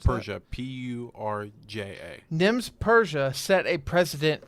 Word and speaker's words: Purja: fact was Nims, last name, how do you pronounce Persia, Purja.